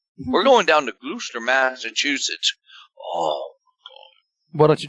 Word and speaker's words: Gloucester: and they pronounced Gloucester good I can't even mispronounce it rooster you know where all the fishermen are glad Lou Lou stir we're going down to Gloucester Massachusetts oh why don't you just call it